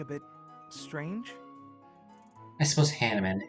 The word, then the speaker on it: Hanneman: It is supposed to be pronounced Hanneman. I don't know, I just see that and I think it's like Hanuman. But I guess if the game pronounces it Hanneman, I'll pronounce it Hanneman.